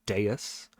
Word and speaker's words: dais: and I will be correcting my pronunciation for uh D dais s that's that's pronounced Deus uh and there was